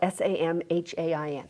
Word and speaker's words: Samhain: And also to recognize that today is November 1st, Samhain. Sometimes it's it's spelled s a m h a i n, pronounced Samhain.